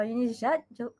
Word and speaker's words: Eunice: Je suis Sœur Eunice. I changed it the pronunciation. I took the French pronunciation, and I'm from the local congregation of Monaco.